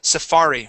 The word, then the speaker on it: safari: you go and this word here is Safari with the accent on the that second a safari Safari okay give me an R sound uh not a hard R but an English R Safar Safari Safari Safari okay uh you're hitting